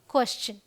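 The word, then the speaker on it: question: हम शन बोलते हैं लेकिन अगर टी आईओ एन से पहले एस आ जाए तो इसे हम पढ़ते हैं चन इट्स मतलब मैं आपको ऐसे बता देती हूं चलिए चन ऑल राइट स् चन यहां पे ये जो श वाला है यह नहीं रहेगा यह वाला रहेगा क्वेश्चन ऑलराइट क्लियर चलिए आर के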